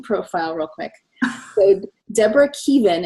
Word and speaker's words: Keevan: So Deborah Keevan, and it's pronounced, it looks like Kevin, but it's Keevan.